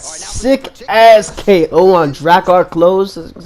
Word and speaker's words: Klose: This is episode 8, and right now I'm rocking with Beneil Dariush, who got that sick ass KO on Drakkar Klose.